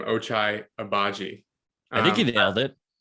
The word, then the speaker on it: Ochai Agbaji: We'll just jump right into so honestly, one of my favorite players in the draft was I'm still having trouble pronouncing his name, Ochai Agbaji.